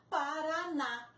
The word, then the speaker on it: Paraná: Um exemplo, Paraná. A última sílaba é o na.